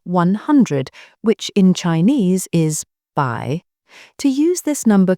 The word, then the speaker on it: 百: Finally, for numbers in the 200s, there are two ways to pronounce the two. You can say by or leang by.